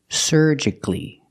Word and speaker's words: surgically: the word is pronounced surgically the first syllable is er like Burger sir surge surgic surgically supposedly